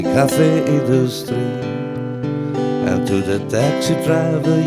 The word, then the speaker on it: Café Industrie: And if you want to pronounce it correctly, in Vienna we say Cafe Industrie. And to the taxi driver you may also say, please bring me to the Industry Cafe.